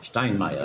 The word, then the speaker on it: Steinmeier: Steinmeier, because I always say it wrong.